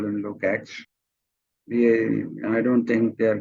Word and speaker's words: Lukács: Georgi is written Lukács, Lukacs, but pronounced Lukács because S is pronounced in Hungarian as sh and C as ch. So Lukács. But everybody simply says Lukács. So it's up to you what you want to call him.